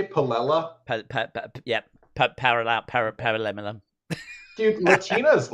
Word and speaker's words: paella: I'm fairly confident it's that paella that I tried. Uh, it's pronounced paella. Paella. Okay. What did you say? Pella.